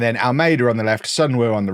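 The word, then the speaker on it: Seong: Um and then Almeida on the left, Sunw on the right and Ratinho up front. Someone in the comment was like K you don't pronounce the E in uh in Syong. So it's actually Sun Woo.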